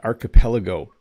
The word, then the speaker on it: archipelago: back to the lesson here we go an archipelago now I used to pronounce this wrong even English speakers sometimes say